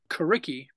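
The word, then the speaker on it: Coriky: And we had a new band called Kariki. It's spelled C-O-R-I-K-Y.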